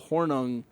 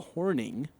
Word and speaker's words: Hornung: named to the well I said the Paul hornung award watch list because that's how it's spelled although 2305 here to correct me on pronunciation saying it's Paul Horning Green Bay Packer Hall of Famer so I